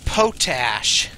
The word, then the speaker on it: potash: Did you just say potash? Yes. It's pronounced potash.